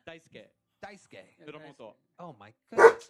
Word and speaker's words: Daisuke: Daisuke.